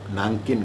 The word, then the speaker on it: नानकिन: तोशी मारुकी दंपति नानकिन गए, नानजिंग कहा जाता है, उसका उच्चारण नानकिन है, नानकिन गए चीन।